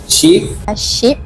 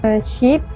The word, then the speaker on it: sheep: sheep, sheep, sheep, Two subjects pronounce it wrong, shortening the E to E, but the rest of the subjects pronounce it right.